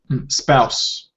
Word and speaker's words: spouse: it pronounces as spous spouse spouse spouse like mouse mouse spouse okay all right then